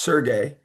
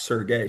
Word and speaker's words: Sergey: It kind of throws me off a little bit, but everybody calls him Serge, but his full name is pronounced Sergey.